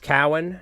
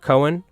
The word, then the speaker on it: Cowan: It's pronounced Cowan, not Cohen.